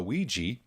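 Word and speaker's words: Evija: got the lotus uh ouija is how i'm going to pronounce that i think that's right yeah yeah starting at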